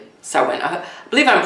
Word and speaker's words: Samhain: My dear Sagittariuses, happy Halloween / Samhain in advance here.